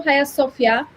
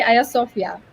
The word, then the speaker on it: Hagia Sophia: In Turkey, we say Hagia Sophia.